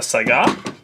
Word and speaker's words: Saiga: cool gun for it this particular gun is a saigon that's how it's properly pronounced it's a type of